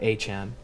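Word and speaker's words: Achane: Yeah, Achan.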